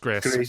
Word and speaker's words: Gris: I've heard it pronounced Gris. Yeah, I say it's Gris. French.